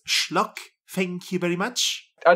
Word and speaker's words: schlock: Like schlogs and Just Actually, from Fur Affinity invading our things. actually, it is pronounced schlock.